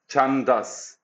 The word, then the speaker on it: Chandas: Let's just make sure I'm saying it correctly. Chandas with a D.